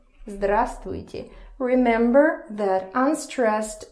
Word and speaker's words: здравствуйте: Just remember that here you for some reason don't pronounce this V. Okay, so здравствуйте. Здравствуйте.